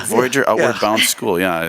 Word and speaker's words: Voyageur: We have great guests here, Steve Furlong with Mortgages Unlimited, Jack Lee, Voyageur Outward Bound School, and Daniel Paley, who is an agent with Remax with us as well.